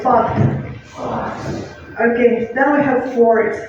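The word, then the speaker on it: факт: Just don't forget T at the end. F, A, K, T. Let's say fact.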